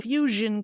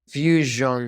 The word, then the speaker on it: fusion: say those two again Fusion Cuisine there you go Fusion Cuisine Fusion Cuisine and I'm going to put a little W here and Z to remember it's two things each Fusion Cuisine Fusion Cuisine